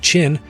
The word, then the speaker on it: Qin: is the Qin dynasty the Qin dynasty pronounced chin was the first dynasty